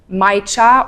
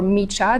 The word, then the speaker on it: Micha: It's going to be a different brand called Micha or Micha, depends on how you want to pronounce it. It's MICHA.